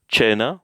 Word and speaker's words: cena: So, however, when C comes before the letter or E, I in English, it sounds like English ch, ch. So, cena, which is, what is cena? Cena, it's just dinner.